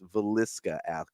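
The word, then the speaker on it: Villisca: I always say it wrong. It's Veliska Axe Murder House.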